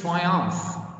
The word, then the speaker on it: triumph: one language and to another next word is triumph the ph we pronounce as fast sound guys it's noun and it means victory or success victory or success it's called like triumph it's noun the next word is uncover uncover